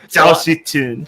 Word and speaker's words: Zhao Shi-chun: Zhao Shi-chun. Zhao Shi-chun. Zhao Shi-chun. Just do the racist inflection. It's not racist. It's literally how you pronounce it.